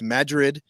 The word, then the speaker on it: Madrid: java junction in madrid it's pronounced madrid new mexico put this on your